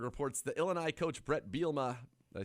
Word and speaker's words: Bielema: uh adam rittenberg reports the illinois coach brett bielma did i say his name right yeah you